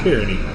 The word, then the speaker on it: Kearney: I was told his name is not Carney, it's Kearney.